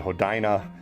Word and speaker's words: Hodina: I I pronounce it Hodina and maybe Hodina you know it's kind of like my last name. There's about two or three different ways to pronounce it.